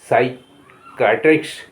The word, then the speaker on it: psychiatrist: यहाँ P silent है। साइका माने आत्मा, मानस। PSYCHIATRIST साइकैट्रिस्ट, साइकैट्रिस्ट, साइकैट्रिस्ट मनोचिकित्सक।